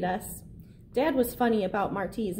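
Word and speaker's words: Martí: Dad was funny about Marty's name, always making sure people knew how to pronounce it correctly. It's Marty, like Jose Marty, the Cuban poet, not Marty, like Marty McFly from Back to the Future.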